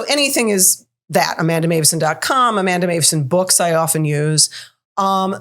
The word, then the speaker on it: Meuwissen: It's Dutch. That's why it's pronounced so uniquely than you might expect.